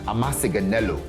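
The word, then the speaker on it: አመሰግናለሁ: It's like amasiganelo. Amasiganelo. I mean, that's like 6 syllables.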